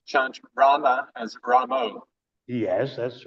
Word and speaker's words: Rama: we should chant Rama pronounce Rama not as Ramo is that the reason because Rama is referring to Lord Ramachandra.